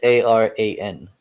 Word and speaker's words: Aran: I remember you mentioning something about it, but Yeah, the Iran Islands.